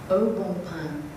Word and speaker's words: Au Bon Pain: May I just, at this point, explain the correct pronunciation for all of you contestants? It's Au Bon Pain.